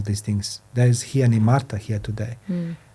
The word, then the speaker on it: Nimarta: My name, Nimarta, pronounced in the Punjabi way, Nimarta, actually means humble.